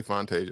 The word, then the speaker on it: Fontashia: I did say Fontashia. I didn't say Fantasia.